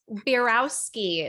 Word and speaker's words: Beirowski: the co-host here and today we have Kate bierowski is that right Kate great pronunciation yeah excellent excellent and you're the sales